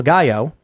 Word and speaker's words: gallo: Mac Rabbit says in the Hispanic culture, they call the dad, new fathers, El Gallo. Pronounced gallo, rooster.